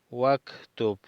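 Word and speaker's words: واكتب: Número 3, iqra, lee, waktub, lee y escribe. No pronunciamos el alef de uktub. Decimos iqra, waktub, lee y escribe.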